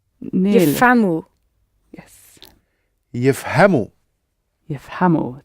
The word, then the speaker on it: يفهموا: Yifhamhu. Nearly. Yifhamu. Yes. يفهموا. Yifhamu. So see how the emphasis moves again. Yifham, yifhamu. Yishrab, yishrabu. So you're adding the tail on, and the emphasis is moved slightly.